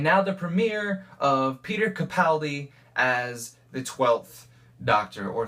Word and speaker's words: Capaldi: he is going to be phenomenal it is pronounced Capaldi by the way I found out um I